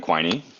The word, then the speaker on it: Quiney: So my name's Quiney. People often have trouble pronouncing my last name, just like they probably have trouble pronouncing your first name. So I let them know that it rhymes with whiny.